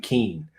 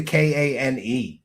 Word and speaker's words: Kean: So nobody send me any hate mail for saying Kean. It's how it's spelled. That's how it should be said. Not people don't just get to make up, a pronunciation because they like it better that way. Then change your name to Kane, dumb bitch.